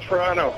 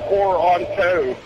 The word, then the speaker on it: Toronto: And B, it's pronounced Toronto, not Toronto.